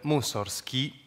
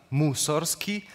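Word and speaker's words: Musorgsky: russo vuol dire spazzatura il compositore scelse deliberatamente la pronuncia alla russa musor Ski che esaltava la sonanza così degradante rispetto alla pronuncia alla polacca musor Ski che il fratello maggiore aveva introdotto per far dimenticare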